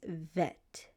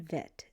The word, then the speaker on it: vet: Bet has an alter ego. and his alter ego is vet. Bet and vet. So the letter bet can make two sounds. It can make a b sound or a v sound.